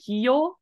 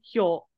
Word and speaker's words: heal: perfect yep and just making sure you know it's not heal you did pronounce it right I think just a second ago but there were a couple times he went heel but it's heal it's uh H yo there's no e sound he'll um this sentence I